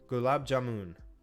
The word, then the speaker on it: gulab jamun: Gulab jamun.